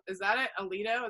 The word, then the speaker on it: Alito: think it was Justice Alito. Is that it? Alito? Is that how you say it? Yeah. A-L-I-T-O, yeah.